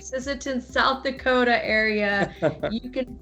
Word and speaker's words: Sisseton: saying that right ah i said it right sisseton south dakota area you can find dr morales